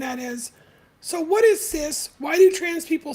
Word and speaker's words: cis: by a cis man it's pronounced as cis like sis as in sister so why does there